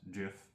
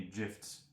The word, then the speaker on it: GIF: There is a phenomenal GIF, and it is pronounced GIF, by the way, because if you think it's pronounced GIF, I'm not giving you any GIFs for Christmas, or your birthday, or any of those things, or Hanukkah, nothing. It's GIF, because it's gift phonics.